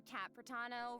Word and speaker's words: Capano: And hosting with me today we have Hey everyone, I'm Capano rhymes with Capitano, the voice of child's master Skirk.